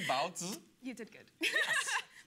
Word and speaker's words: baozi: Is that pronounced correctly? Bao zi?